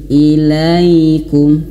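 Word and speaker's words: إليكم: Huruf ya di antara sifatnya itu dia lembut. Lin. Ilaikum. Ilaikum. Jadi ee angkatannya ataupun ayunannya itu sama seperti mad thobi'i. Kalau durasinya ilaikum ilaikum seperti itu ya. Lembut. Ilaikum jangan kasar.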